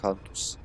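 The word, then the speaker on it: Kantus: a shield i say cuntus because it's okay yeah okay yeah in serbian it will be pronounced cantus i thought i was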